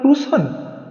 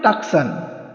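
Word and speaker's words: Tucson: লোকটি কর্কশ গলায় বলল টুসন সেটা আবার কোথায় হেল ডমেন্টস প্লেস আমি একবার বানান করে বললম সি এস ও এন অনেকে বলে টাকসান আসলে ওটা টুসন উচ্চারণ হবে আরিজোনা স্টেটে লোকটি বলল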